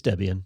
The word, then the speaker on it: Debian: wow 30 years of is it Debian is that how you say it it's Debian Debian okay that is the correct way it is yes okay uh Debian was created by a